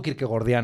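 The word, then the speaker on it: Kierkegaard: quirque gordiano es decir como yo digo Kirk gordian a la gente le le horroriza que se pronuncie bien el nombre Porque parece que le está llamando gordo a Kirk gordo Bueno pues este Kirk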